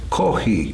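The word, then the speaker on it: コーヒー: And coffee is kohi.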